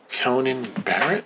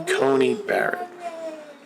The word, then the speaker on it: Coney Barrett: two cents on that so judge amy amy conan barrett amy conan barrett i gotta i gotta remember how to say his name amy coney barrett all right so she has seven kids it